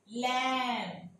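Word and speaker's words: lamb: इसी तरह से अगर एम के बाद बी आ जाता है तो ये बी साइलेंट हो जाएगा, कॉम, थम, लैम, बॉम, ये देखें ऐसे हो जाएगा, ये Baum, लैम, कॉम, B silent हो जाएगा।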